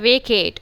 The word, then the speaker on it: vacate: First part में A long sound है, it's an open syllable. Then you have kate, Magic E pattern. E silent, making A take its long sound.